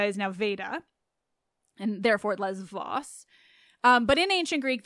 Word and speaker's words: Lesvos: the B sound and in modern Greek it's lesvos but I know that in Greece you pronounce it Les Vos even if you're talking ancient Greek so I'm not saying